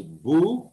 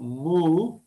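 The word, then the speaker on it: 武: is this musha so this kanji is better pronounced as buu as bujutsu bushi budo or mu like in musha what's interesting here is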